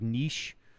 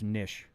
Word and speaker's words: Nisch: Appreciate the uh just to make sure because I people call me like niche or niche and it's actually just nish like a fish.